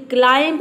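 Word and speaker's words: climb: मतलब होता है चढ़ना यहां पे देखिए क्लाइम नहीं इसको प्रोनाउंस करते हैं बी को साइलेंट रखते हैं ये होता है क्लाइम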